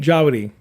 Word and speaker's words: Djawadi: Jawadi. It's a silent D. Yeah. D is silent.